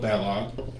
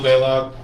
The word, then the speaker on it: Baylog: Fast time in Group A, Bill Bellog, followed by Group B, Mike Rinke. Yep. Hey, I got it right Yes. that time. Except Baylog, and I already know that that's how I pronounce it.